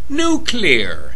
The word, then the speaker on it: nuclear: idiots should learn three simple points one it's pronounced nuclear nuclear weapon nuclear newcomer to the